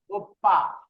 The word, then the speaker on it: 오빠: Oppa, Oppa উপ্পা। এই এখানে একটু বিষয় খেয়াল করেন, এখানে বলতেছে আপ্পা আর এখানে উপ্পা। এটার মানে উচ্চারণটা কিন্তু আমাদের প্রায় সিমিলার, কিন্তু অর্থ কিন্তু পার্থক্য আছে।